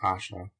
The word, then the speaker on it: Ayesha: add that the name Asha which since the days of the prophet Muhammad who had a wife so-called and perhaps before them has been common in the east should be pronounced Asha.